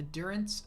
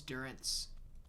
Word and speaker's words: Durance: a long stream the Durance of hate search for Mesto in his Durance that's how it's said right Durance like endurance you don't know how